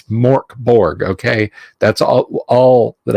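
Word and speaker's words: Mörk Borg: Smith or or you know it's yeah it's pronounced Jesus Jones you know no it's it's Mork Borg okay that's all all that I can do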